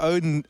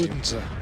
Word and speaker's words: Odense: You know, one side, you go to Odin... sorry, I can never say the name. Odense.